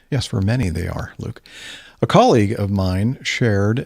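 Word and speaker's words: Luc: Let's continue then with this feedback from Luke. Would imagine L-U-C is pronounced Luke.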